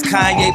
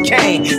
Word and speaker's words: Kanye: Now all I need is y'all to pronounce my name as Kanye, but some of my plastics still say Kane.